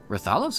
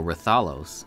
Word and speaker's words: Rathalos: And then they're like, it's Rathalos and Rathian. No. And I was just kind of like, huh? I've been putting the emphasis on the wrong syllable all these years.